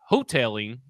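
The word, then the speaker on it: Houghtaling: So if you're just essentially running it back with hopefully a better offensive line coached by Jason Hoteling, which I believe is how you pronounce it.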